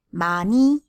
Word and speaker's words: 많이: 많이 is about the quantity or lot. Ending consonants are two, N and H sound. But usually we only pronounce N.